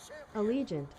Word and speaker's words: Allegiant: how that's actually pronounced let's see pronunciation allegiant allegiant okay so it's just a legion cool said it right the first time beauty ah so reaction